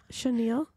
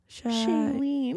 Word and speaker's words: Shailene: Chenille? Shailene.